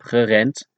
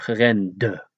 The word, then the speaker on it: gerend: So here's the thing, the Dutch never pronounce a D at the end as a D, but always as a T, so ik heb gerend is pronounced as ik heb gerend, and not ik heb gerende, etc.